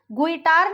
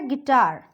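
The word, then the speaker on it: guitar: गुइटार नहीं होता है, वो होता है गिटार.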